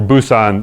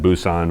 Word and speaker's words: Busan: So this is that section, and this is what's called the Pusan perimeter, or Busan. In Korean, they pronounce it Busan, but we pronounce it Pusan.